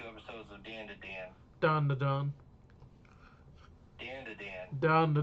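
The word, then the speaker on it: Dandadan: And I'd be like, no, it's Don. That's how you say it.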